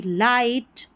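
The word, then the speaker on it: light: इन सभी में जी एच जो है उसका उच्चारण नहीं हो रहा। वह साइलेंट है। तो स्पेलिंग पढ़ेंगे तो यह बन गई लाइट नाइट राइट साइट और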